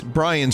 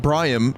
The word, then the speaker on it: Briam: Brian like Brian you Brian's your name right no my name is Brian Bri my parents thought that briam would be a totally cool and purified way to say my name so it's b r